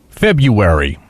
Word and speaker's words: February: Oh, February. No, it's pronounced February. Feb like with the R. Like we always take out I guess the R out of it.